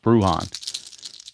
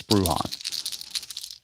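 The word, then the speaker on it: Bruján: know his name is his name is pronounced bruhan don't know about the first name I know the last name of the bruhon because I heard announcer say it so I know it's brujon Cortez 11 is defense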